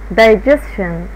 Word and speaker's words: digestion: digestion، التي اي هنا بنطقها ش، التي اي في كلمة digestion بتتنطق ش، digestion.